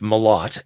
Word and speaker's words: Malott: on so we're here to talk about Jeff mot and I guess my first question is is that how you pronounce his name yes absolutely nailed first try